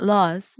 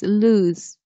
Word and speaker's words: lose: yeah like lows but here is not loss it's lose lose last and last date